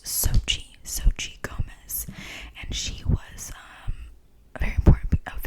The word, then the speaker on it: Xochitl: Xochitl Gomez. I know I just completely butchered that.